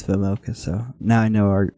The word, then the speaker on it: Vejmelka: It's Vejmelka. That's how you say it. Let's go. There's a J in there, so I wasn't sure if it was Vejmelka or Vejmelka, but they were saying Vejmelka, so I think it's Vejmelka.